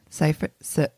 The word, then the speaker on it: Seyfried: Seyfried.